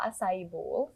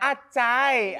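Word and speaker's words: Açaí: ice cream Oh iya Acai Acai yang suka di Asai Oh cara bacanya Asai as kalau kita di rumah tahunya Acai ya Acai Acai Berry lah Tahunya begitu oh jadi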